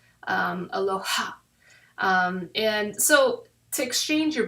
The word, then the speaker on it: Aloha: The ha is your breath. So like when you say it properly, you should say it with your soul, say it with your heart. Aloha.